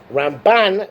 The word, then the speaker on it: Ramban: We put an emphasis on the first syllable for Rambam, for Maimonides, and emphasis on the last syllable, Ramban, for Nachmanides.